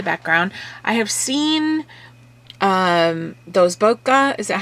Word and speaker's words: bokeh: I have seen those bokeh, is that how you say it?